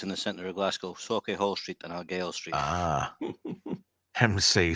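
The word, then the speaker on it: Sauchiehall: Brian says, I saw the bloke from the Crankies, that'd be Ian Cranky then, in Suchi Hall Street. Did I pronounce that right, Melv? Socky Hall Street.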